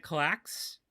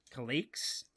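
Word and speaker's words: Kallax: so um i use the ikea clacks k-a-l-l-a-x hopefully that is the way you spell it say it not colleagues or calex or whatever but a very very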